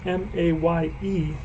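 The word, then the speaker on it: Maye: Mae Lee May and his name is spelled m-a-y-e he's got that e at the end but I think I believe it's still pronounced May but uh correct me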